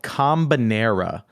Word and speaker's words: Kombinera: Little indie game called Combinera. It is a puzzle game. So you spell it Kombinera.